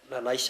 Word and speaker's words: La Leche: So, well, let's talk about La Leche. Is that the correct pronunciation?